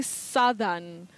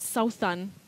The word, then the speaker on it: southern: you just mention it so it's southern and not south sun is that correct but we have south yeah when you come to the adjective you don't say southern that glide that vowel glide disappears and you use what we call the mid central vowel sound ah southern you say